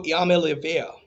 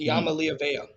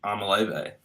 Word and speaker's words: Iamaleava: It is Nico Iamaleava. Hmm. Iamaleava, if I'm not mistaken. I thought it was Amaleve, but that's just me.